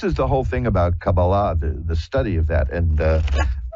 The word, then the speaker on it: Kabbalah: This is the whole thing about Kabbalah, the study of that, and I pronounce it that way purposefully, because the more dilettante version is Kabbalah. But the Kabbalah, which is the more